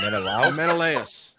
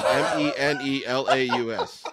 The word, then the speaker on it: Menelaus: Menelaus. Malawis. It's M-E. I even went online and looked at it. Malawis. It's M-E-N-E-L-A-U-S.